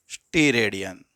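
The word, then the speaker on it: steradian: क्या बोलते हैं, अरे मैंने यहां पे गड़बड़ कर दी स्पेलिंग लिखने में। चलो इसको बोलते हैं क्या, स्टीरेडियन।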